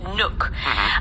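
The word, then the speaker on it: Nuuk: And the reason why is because the capital is Nuke Nuke. It's N UK and it's pronounced Nuke.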